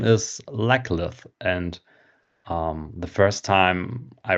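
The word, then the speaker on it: Laclith: But yeah, now in our reread, when I pronounced it in my head, um, it was quite obvious that mm-hmm, it very much sounds like Legless.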